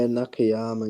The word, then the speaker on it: Nakayama: Says he'd go Nichols, Nakayama. I think I said his name right. Did I say his name right? Yeah, Nakayama, yeah.